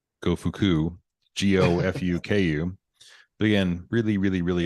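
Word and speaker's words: Gofuku: you actually I'm sure it's pronounced go fuku g-o-f-u-k-u but again really really inappropriate uh and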